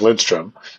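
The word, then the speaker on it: Lindström: Gustav Lindstrom is Gustav Lindstrom it's basically yeah when you have yeah never never forget to pronounce the n in his name otherwise you it's a whole different exactly but um you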